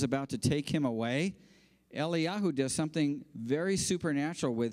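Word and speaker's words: אליהו: it's about an interaction that takes place between Eli Yahoo that's the Jewish Prophet that we call Elijah his real Hebrew name is Eli Yahoo and Ellie Shaw that's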